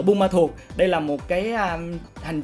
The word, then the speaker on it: Buôn Ma Thuột: It's either pronounced Buôn Ma Thuột or Bang Ma Thuột. Buôn and Bang as in village, Me or Ma as in father, and Thuột as a personal name.